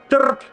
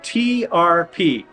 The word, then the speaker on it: trp: If I'm really angry at somebody and I want them to suffer, I tell them, trp. It's spelled TRP. Trp. Trp. And it's usually pronounced about like that, fairly short.